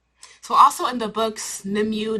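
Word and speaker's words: Nimue: also in the books nimu nimway whatever you however however you pronounce her name well not however you pronounce name her name is pronounced them way her and Merlin are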